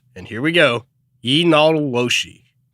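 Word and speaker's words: yee naaldlooshii: Pronounced, and here we go, Yinaloshi. Yinaloshi.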